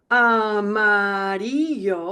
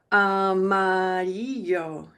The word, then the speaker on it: amarillo: The double L is like a Y. I alluded to it right here. So let's try. This is probably the hardest of all these colors. Amarillo. Again. Amarillo. Last time. Amarillo.